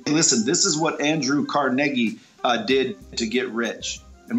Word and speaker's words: Carnegie: It's Carnegie. That's how you pronounce his name.